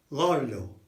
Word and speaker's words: gordo: And listen to the way I say it. It's gordo. Gordo.